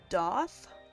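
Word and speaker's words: daith: supposed to help is called the doth which it it always throws me off because it's spelled like da like Faith but with a d and uh I had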